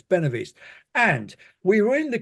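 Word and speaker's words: Benahavís: Ben Ben Ben benav benav that's it there's an H in it which isn't pronounced and I don't quite but anyway it's benov East and we were in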